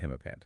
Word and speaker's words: himapant: In general, these mythical creatures are referred to as himapant animals or sat himapant. That's P-A-N-T, like the trousers.